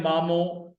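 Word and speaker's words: مامو: तो ये है मामो। मामू को सिर्फ आप नून निकाल दें और ये पेश की जगह पर जबर लगा दें, तो ये सिंधी में हो जाएगा मैटरनल अंकल।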